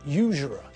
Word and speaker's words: usurer: Now, did you notice the word usurer? That's the same type of word as university and uniform. Because we pronounce the first letter as U, not U, we use a consonant, not a vowel.